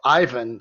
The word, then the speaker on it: Qiven: by the name of Ivan, spelled Qiven, but the Q is silent. You don't say the Q.